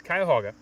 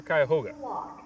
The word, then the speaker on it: Cuyahoga: ohio how many different ways are there to pronounce the name of your park well it depends who you talk to it's it's cuyahoga or cuyahoga and it only needs about four feet of